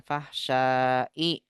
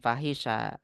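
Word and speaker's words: الفحشاء: itu harus dihafal juga cara bacanya fahsyai bukan fahisya fahsya Jar majrur munkar ini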